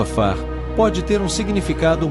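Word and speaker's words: עפר: Versículo 7 no texto hebraico a palavra pó pronunciado a far pode ter ter um significado mais profundo algumas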